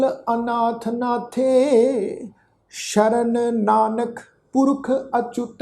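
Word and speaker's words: ਅਚੁਤ: साध संगत ये पाठ है जी चच्चे पैर औंकड़ दे नाल अच्युत है।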